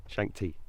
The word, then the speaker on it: Shakti: This is Shakti. Shakti. Shakti. Yeah. I actually rang you earlier and said, can you pronounce it so I get it right?